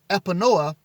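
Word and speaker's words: Epinoia: spell that e-p-i-n-o-i-a i'm going to pronounce that epinoa which is insight or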